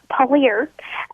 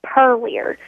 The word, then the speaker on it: Purlear: Well, everybody calls it Purlier. And that's how it's spelled. It's Purlear. So, most people, they pronounce it Purlier. I'm like, no. It's Polier.